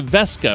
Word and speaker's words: Weske: Keely or Max Brown and I apologize for mispronouncing your name last time it is Amelia vesca am I doing that right that's correct all